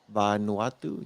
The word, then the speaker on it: Vanuatu: Vanuatu.